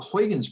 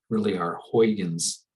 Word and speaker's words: Huygens: And so here's our Huygens. It's not how you spell it. It's not Huygens. So here's our Huygens ray right there.